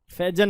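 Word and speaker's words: Faizan: Online वाले student बताओ, फैजान, फैजन, तो नाम की प्रोनाउंसिएशन मुझे बताइए जरूर यार। इट इज़ फैजन ना, फैजन ही होगी यार। चल आबिक स्टार्ट करते हैं बेटा आगे। सर फैजान, ओहो बहुत बढ़िया, ठीक है, इट्स फैजान, आप लोग भी याद रखें, ठीक है।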